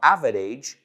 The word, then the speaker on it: average: Well, the average person, no, average, average, dos sílabas. O sea, la palabra average rima con bridge, puente.